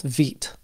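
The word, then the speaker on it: Vite: recommended build tool called vit and yes it is pronounced vit that's French for quick or fast and to get started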